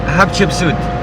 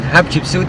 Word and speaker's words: Hatshepsut: We're going to Hatshepsut temple. How do you say that? Hatshepsut? Hatshepsut. Okay. That's the name of a pharaoh? Yes. Of a king? For the queen, Hatshepsut.